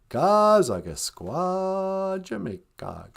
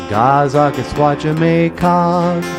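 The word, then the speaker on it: Gaa-zagaskwaajimekaag: Gazagasqua, Jamaica. So I wrote a song about Leech Lake, how to say it in a jib way. Gazagasqua, Jamaica, Gazagasqua, Jamaica.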